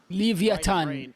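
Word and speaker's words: Leviatán: come into this ها just النطق الصحيح لاسم التيم. looking chipper. ليفياتان.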